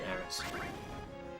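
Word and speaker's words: Aeris: Sorry, Aif instead of Aerys which should be Aris.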